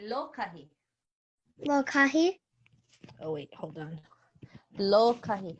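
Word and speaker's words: lōkahi: Lokahi. That's hard to pronounce. Say lokahi. Lokahi.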